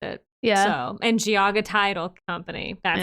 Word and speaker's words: Geauga: a lot and I don't know how to pronounce it. Tuscarawas. Okay. And I know this one is Geauga. I do know that one. That's how the county PVA office pronounced it. Yeah. So, and Geauga Title Company.